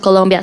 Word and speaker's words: Colombia: I was sharing about when you think about Colombia South America First you you don't know how to pronounce it if you are from out of